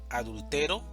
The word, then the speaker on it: adultero: Entonces, el significado es diferente cuando hablamos de adúltero, adultero y adulteró.